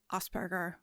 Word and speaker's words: Asperger: German he was venes I'm going to pronounce it in the German language because that's the language he spoke okay and that's how